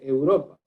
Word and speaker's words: Europa: Y si usted se da cuenta, esta palabra tiene la sílaba tónica, es decir, la acentuación en la sílaba ro.